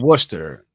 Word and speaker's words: Worcester: Wester Worcester that's what it's called it's called Worcester wor okay there's a whole